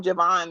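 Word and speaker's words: J'Von: And so his name is spelled J apostrophe VON, but Right. people still call him Javon though.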